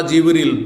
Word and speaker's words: জিবরিল: হ্যাঁ, ফেরেশতাদের প্রধান জিবরাইল বা জিবরিল, দুইভাবে উচ্চারণ করা যেতে পারে।